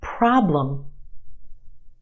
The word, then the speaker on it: problem: Two syllables in this word. Our first syllable is emphasized. The a problem is stretched and emphasized in the first syllable. Our second syllable is where you have your schwa.